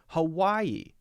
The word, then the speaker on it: Hawaii: sound a little weird like Hawaii Hawaii that's not only about stress but we need to know the IE is a two syllable piece of the word and we have to be able to distinguish those two and say them correctly hmm hmm hmm hmm